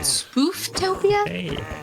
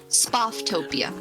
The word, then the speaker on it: Spooftopia: I forgot how to pronounce it cuz I didn't know if it was like spatopia. No, it's two O's. It can't be spaoftopia. It's spoof.